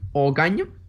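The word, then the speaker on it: Oganj: I took the SVLR M-77 Ogany. That's the pronunciation for that.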